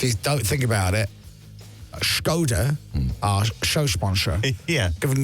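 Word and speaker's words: Škoda: with our show sponsor, Skoda. Skoda. Yes. We've got to say it like that because that's how you say it. Yeah. So it's not Skoda. We're not trying to be Sean Connery.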